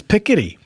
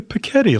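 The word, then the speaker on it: Piketty: would you say it I'd say petti like a little child says petti to be cute do you think they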